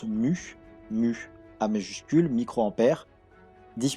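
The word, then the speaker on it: μ: Les microampères, avec le U un peu bizarre, hein, ça se prononce mu, mu A majuscule, microampères, 10 puissance moins 6.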